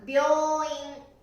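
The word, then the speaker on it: 病院: これは発音は病院。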